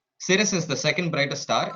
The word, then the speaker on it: Sirius: one it's called series it's pronounced similar to serious it's pronounced series Cirrus is the second brightest